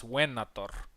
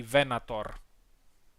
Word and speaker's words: venator: So if you're using classical pronunciation, the V is a U, so it's venator.